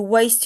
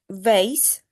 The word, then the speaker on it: waste: When you say that you when you watch TV, you waste your time. I've noticed that you say not vase just waste.